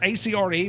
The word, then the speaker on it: Acre: I thought it was Acre, A-C-R-E, but I was told it's Acre.